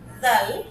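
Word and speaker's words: ذال: এই জাল উচ্চারিত হবে কিভাবে বলো তো? আমরা সা যেভাবে উচ্চারণ করি সেম একইভাবে আমরা জাল উচ্চারণ করব।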